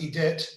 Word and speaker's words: Edith: Edith Russo is saying, that's my mother's name, Edith, and it's pronounced Edith in French. H is silent.